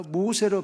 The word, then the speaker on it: 모세: 그러니까 모우세스예요, 원래는. 근데 모우세스인데 히브리식으로 나중에 모우세스 이러니까 모세로 발음하는데 모세라는 히브리식 이름의 뜻은 무엇이냐면 건짐을 받음이 아니라 건져내는 자라는 것입니다.